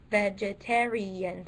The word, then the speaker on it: vegetarian: Okay, so obviously the third syllable is stressed.